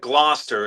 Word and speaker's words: Gloucester: I live in Essex, but but Gloucester is probably the word that you're trying to say. Gloucester. I'm so bad. Glouster.